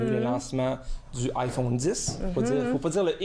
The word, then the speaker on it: iPhone X: je croyais que c'était le X quand il avait dit ça. Non, ça fait un petit peu plus mystérieux, iPhone X, mais c'est le 10 qu'il faut prononcer.